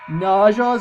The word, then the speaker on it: Naja: If I go ahead and talk with this guy right here, so these Creo that he has behind him are called Najas, I think they're pronounced. They're spelled N-A-J-A.